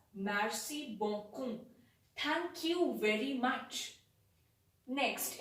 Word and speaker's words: merci beaucoup: say merci merci beaucoup it is pronounced as merci bonkum thank you very much